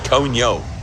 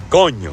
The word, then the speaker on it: coño: Now, one of the most common, mispronunciations of the word coño is coño. People break it down into 2 syllables. Oh, coño, and they try to curse it out. Oh, what happened there, coño? No, it's one word, coño.